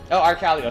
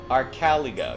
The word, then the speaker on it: Arcaligo: Also, it's Arcaligo. Sorry. Yes, I'm falling back into my stress syllable on the second syllable. Arcaligo.